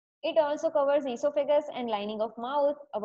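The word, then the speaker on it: oesophagus: अब आप बोलोगे ईसोफेगस क्या है, और देखिए प्रोनाउंस किया है मैंने ईसोफेगस और स्पेलिंग चालू होती है ओ से, तो आप बोलोगे इसका तो प्रोनाउंसिएशन ओइसोफेगस होना चाहिए. भाई आपको ऐसा करना होता आप कर सकते हो, स्पेलिंग राइट लिखना.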